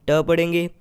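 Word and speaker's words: tape: आखिर में ई आ रहा है तो हम ई को साइलेंट रखेंगे, और इसी वर्ड का सेकेंड लेटर यानी ए को हम ए ही पढ़ेंगे। तो ये टी ए हो जाएगा टे, और पी को हम प पढ़ेंगे, तो ये वर्ड हो जाएगा टैप।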